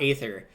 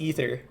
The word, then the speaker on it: Aether: of ather 2 Rivals of ather the canonical pronunciation seems to be ather ether not ather but I'm not changing the way I say